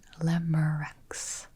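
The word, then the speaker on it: Lemurex: And she says that she pronounces it Limericks.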